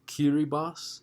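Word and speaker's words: Kiribati: that British heritage politically the next one is pronounced kiri Box used to be called the Gilbert Islands very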